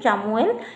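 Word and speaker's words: Chamuel: art Angel চামু arch Angel চামু arch Angel চামুয়েল এইভাবে আপনারা কুহন্ত এবং তাকু যদি আপনারা ঠিক উচ্চারণ করিবার নাহান্তি তবে স্পেলিং লিখে দিয়েছি তাকো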